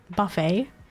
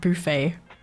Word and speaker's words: buffet: But yeah, if I remember, like in American English, it's pronounced buffet. But in French, it's like buffet.